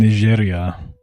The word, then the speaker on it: Niger: is Chad is saying Ner and Neria. I imagine it's instead of Nigeria. I learned uh a month ago that this is actually pronounced the French way.